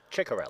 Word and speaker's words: Ciccarelli: Ciccarelli. Ciccarelli. So Genevieve Ciccarelli coming in, the rookie. One of those good Italian names. Oh, it's a great Italian name. Unfortunately for me, 3 different ways to pronounce it.